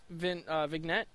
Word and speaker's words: vignette: Oh, Sacred Earth Promise is a 1-hour vignette. I think that's pronounced right. Vignette. I think it's vignette. I think you don't pronounce the G. Silent, I think.